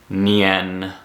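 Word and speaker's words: nian: Any word that ends with I-A-N, you should just mentally switch the A with an E. It's going to be pronounced Tien, Lien, Nien.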